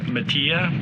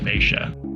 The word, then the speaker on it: Matia: the ey in there so if it was Spanish technically it should be Matia because it's just like Maria but the locals say Misha so we hunker down